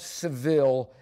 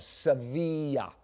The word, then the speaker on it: Sevilla: It says, the barber of Seville shaves everyone who doesn't shave himself. Okay? The barber, or I could pronounce it right, the barber of Sevilla shaves everyone who doesn't shave himself.